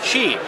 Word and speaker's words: Qi: is the fun part we're here uh at Chi which I just learned how to pronounce it's not as we've been mispronouncing it